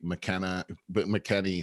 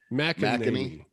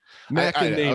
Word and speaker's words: McEnany: court packing, and I saw something from Kayleigh McKinney saying, McEnany. It's hard. It's so how hard. McEnany.